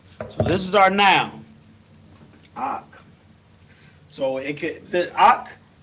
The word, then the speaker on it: ISUPK: So my brother is I.S.U.P.K. Yeah. And it's pronounced just like that. I.S.U.P.K.